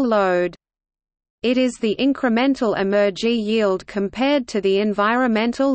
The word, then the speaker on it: emergy: EYR-ELRNOTE, the numerator is called Emergy and is spelled with an M. It is an abbreviation of the term embodied energy.